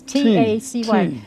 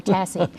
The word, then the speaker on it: Tacy: It's not Casey, it's T-A-C-Y. It's like Stacy without the S.